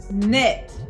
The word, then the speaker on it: knit: okay our next word knit we have our k n that k is silent we only hear the n knit you're not writing hands